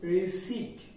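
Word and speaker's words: receipt: ওকে পরবর্তী শব্দটি হবে আর ই সি ই আই পি টি আমরা এটাকে বলে থাকি রিসিভ কি বলে থাকি রিসিভ কিন্তু এর উচ্চারণ হবে রিসিভ রিসিভ রিসিভ P totally silent that means the word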